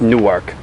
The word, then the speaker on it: Newark: Previously recorded at the beautiful University of Delaware campus in Newark, Delaware. It's one word, it's spelled like Newark, it's pronounced Newark.